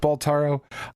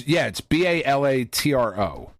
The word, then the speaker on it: Balatro: Is it Baltaro? I don't know. It doesn't matter. It's the poker game. Okay, it's that is the one, right? I thought it was Balatro because it's B-A-L-A. Maybe I'm saying it wrong. It's Balatro, and it's a Latin word.